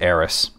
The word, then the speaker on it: Aerith: nerds out there go, it's actually Aerith. Well, it's spelled that way, but it's pronounced Aeris. That's why that mistake was made, because they were going by the phonetics.